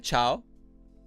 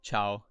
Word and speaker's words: ciao: electus welcome to the stream is that a chow is it a chow how are you doing